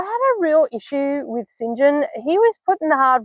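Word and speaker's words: St. John: um three siblings there's Saint John which is pronounced Sinjin and Diana and Mary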